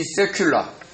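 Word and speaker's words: סגולה: 그래서 이 세큘라, 지금 제가 발음을 원래는 히브리어로 세귤라고 세굴라라고 그러거든요. 근데 좀 세게 발음할 때는 거기다가 자음을 강하게 해서 세큘라라고 이렇게 발음을 하기도 하거든요.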